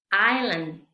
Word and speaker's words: island: estacional es muda aquí la s no se pronuncia es muda Entonces vamos a ver vamos a pronunciar Island otra vez Estas dos se